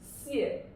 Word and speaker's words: 谢: here yeah 谢 okay it's 谢 the fourth tone 谢 okay this means